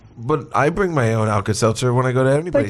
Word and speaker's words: Alka-Seltzer: the shelter too well Plus again you you mispronounced alka-seltzer the first time missiles is its alka-seltzer Sal Cassano or whatever I think that's you